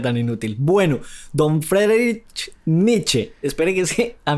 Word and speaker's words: Nietzsche: que con alguna frecuencia se refieren a Nietzsche como Nietzsche y no, es Nietzsche con la e del final que se pronuncia que es en alemán, no en francés.